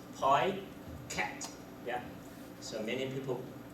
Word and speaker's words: Picat: also the pronunciation okay there is a standard pronunciation which is p cat yeah so many people pronounce it pat actually I used to